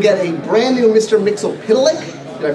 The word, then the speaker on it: Mxyzptlk: Mxyzptlk. Did I pronounce that right? Mxyzptlk.